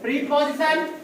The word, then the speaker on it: preposition: प्रीपोजिशन, प्रेपोजिशन, प्रेपोजिशन मुझे ज्यादा अच्छा लगता है, स्टैंडर्ड होता है, सही उच्चारण है।